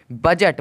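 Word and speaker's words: budget: उच्चारण निकाला है लेकिन दी का कोई भी उच्चारण नहीं निकाला है बी यू जी बी यू दी जी टी बजट बजट मतलब होता है लेखक जोखा अब देखोगे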